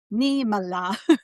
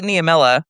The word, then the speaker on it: Niemela: Neila. Yes, I know because people like how do you say it? Most people say Namela.